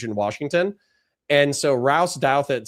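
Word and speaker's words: Douthat: a guy named Ross Duhat. Ross Duad or Douedit, I think some people pronounce it, is a uh conservative Christian Catholic political commentator who's huge in Washington. And so Rouse Douet says, "Hey, you started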